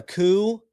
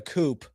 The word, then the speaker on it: coup: Clearly they're talking about a coup. As a joke, I would pronounce it a coop. And I'd say, a coop, like a chicken coop, huh?